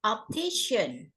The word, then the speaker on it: optician: Kemudian yang number 6, optician. Opticians. Optician. Iya. Jadi huruf C-nya ini dibacanya S ya.